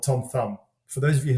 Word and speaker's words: Tom Thum: And I commissioned a long form ad, if you will, with a guy called Tom Thumb.